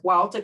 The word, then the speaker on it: Hualta: This is in the Hualta cave system. If you remember, it's spelled H-U-A-L-T-A in the Yucatan.